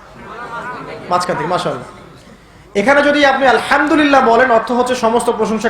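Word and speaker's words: الحمد لله: না হাসতি এটাকে বলে বড় হা উচ্চারণ কোথা থেকে করতে হয়? মাঝখান থেকে এখানে যদি আপনি আলহামদুলিল্লাহ বলেন অর্থ হচ্ছে সমস্ত প্রশংসা কার জন্য? আল্লাহর জন্য। আলামিন। তিনি জগৎসমূহের প্রতিপালক। যদি বলেন আলহামদুলিল্লাহ।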